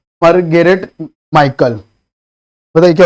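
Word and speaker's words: Mitchell: सरोजनी नायडू, कमलादास, माता लुटरकी या मरगेरेट माइकल बताइए क्या हो जाएगा? इसमें माइकल में टी साइलेंट होता है।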